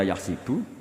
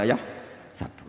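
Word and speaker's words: يحسب: Karena dalam qiraat sab'ah ada yang baca yahsibu, qiraat kita baca yahsabu. Tapi guru-guru kita kalau ngajar fikih itu bacanya yahsibu. Tapi kalau baca Quran, yahsabu. Ya kan Quran kita kan ayah sabu Allah yaqdiru alaihi ahad, bukan dibaca ayah sibu.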